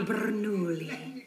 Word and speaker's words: Bernoulli: Francesco Bernoulli. No wonder there's a crowd. Wait, why do you know his name? Don't say it like that. It's 3 syllables, not 10.